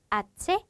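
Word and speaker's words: hache: 그리고 아체, H가 묵음이다.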